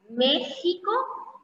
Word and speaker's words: México: ic y por último cuando escribimos el nombre de algunos lugares la equis va a sonar como punta un ejemplo de esto es méxico y es más desde